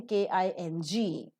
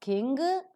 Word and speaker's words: king: with n and G if we don't pronounce ger sound so it is not King it is King okay is aspirated and